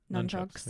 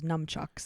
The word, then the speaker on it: nunchucks: it's spelled i guess well it's spelled with nun yeah so just say none nunchucks yeah i always thought it was numchucks yeah i think that's